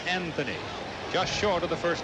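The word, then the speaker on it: Anthonia: Anthony, spelled A-N-T-H-O-N-I-A, pronounced Anthony.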